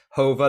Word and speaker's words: Jova: In the Pacific, we also have Hova. I called it Jova, and I was mistaken. It's Hova, the Latin or Spanish pronunciation.